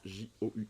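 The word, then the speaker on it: joug: jou de ses adversaires j o u g je crois que ça se prononce jou pas j je vous laisse me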